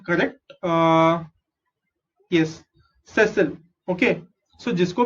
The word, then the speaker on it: sessile: let me get this pronunciation correct। yes sessile।